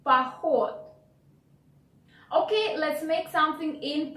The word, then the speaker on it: поход: H, поход. Then first O is not stressed, so you want to pronounce it like A. Поход.